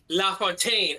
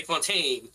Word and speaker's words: de Fontaine: you gotta say La Fontaine at the end. You can't just say Fontaine.